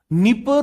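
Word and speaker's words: Dnieper: नीपर river, spelling D से शुरू होती है, नीपर बोलते हैं।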